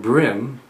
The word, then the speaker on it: bream: the South the term brim incorporates all panish and Brim brim spelled b r e a n but pronounced brim like in the brim of your cap or your hat is actually derived from